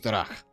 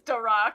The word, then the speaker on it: Drach: I'm hearing like Drac, if I'm pronouncing. Yeah, like Okay. Oh, you could absolutely pronounce it as Darak.